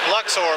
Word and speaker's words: Luxor: Luxor, Queen Games.